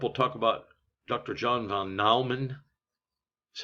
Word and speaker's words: von Neumann: John von Neumann. That's how you pronounce that.